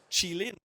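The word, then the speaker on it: Qilin: In fact, Chilean ransomware, the one at the bottom there, been told is how it's pronounced.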